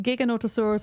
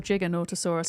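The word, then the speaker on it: Giganotosaurus: Yeah, I don't know if it's pronounced giggonotosaurus or jiggonotosaurus. I've always said gigger because you say giga for short, not right?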